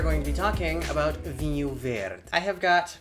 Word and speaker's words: Vinho Verde: The proper pronunciation of this wine is Vinho Verde. It's not vino, it's not vino, it's not anything that has to do with anything in Spanish. It's Portuguese and we say vinho.